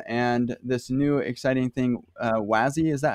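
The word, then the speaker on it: WASI: about web assembly and this new exciting thing wazzy is that how you pronounce that yes yeah wazzy yeah web assembly uh system interface right cor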